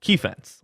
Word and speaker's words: Keefense: You can go ahead and follow him on Twitter at Keefence, like defense, but Keefence. Keefe and defense smushed into one. It's spelled Keefense.